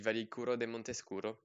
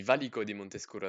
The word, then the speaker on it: Valico di Montescuro: finish just after the Valicuro de Montescuro. I swear I added syllables there, the Valico di Montescuro, that's much better.